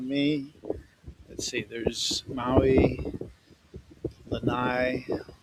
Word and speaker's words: Lanai: Let's see, there's Maui, Lanai, Lanai is how they pronounce it in Hawaiian, Molokai.